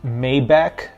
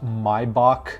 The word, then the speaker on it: Maybach: thing I want to address is it's not pronounced Maybach it's pronounced my Bach you need to use a little bit more